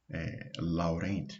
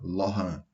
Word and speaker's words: Laurent: Aqui está escrito Laurent, mas é um nome francês e se pronuncia Laurent, série de Laurent.